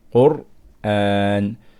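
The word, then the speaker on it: قرآن: Okay, so if we look at this example, the word Qur'an, we can see that the ra is sakin here and there is a dhamma before it. So now we can pronounce ra strong with Tafkheem. Qur'an.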